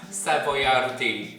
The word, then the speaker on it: Savoiardi: I asked my sister-in-law's mother how to pronounce this product in Italian, and she told me that it's pronounced Savoiardi Biscuits.